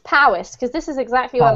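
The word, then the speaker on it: Powys: don't worry about it this one's pronounced Powis because this is exactly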